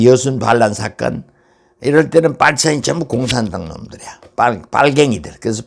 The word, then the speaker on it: 빨치산: 이거 우리말로 빨치산이지. 빨치산이 파리선에서 나왔거든. 파리선, 빨치산. 그러니까 파리선의 이건 원래 어원은 불어에서 나왔는데 이게 이제 러시아 식으로는 빨치산이라고 발음하나 봐.